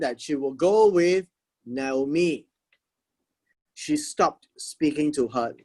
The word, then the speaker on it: Naomi: now me or not me so we will pronounce it as naomi right that also tells us a story that